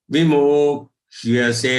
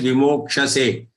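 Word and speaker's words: विमोक्ष्यसे: Evang gyatva vimokhyase. Remember, it is half ksha joined with ya. Don't read it as vimokshase. It is vimokhyase.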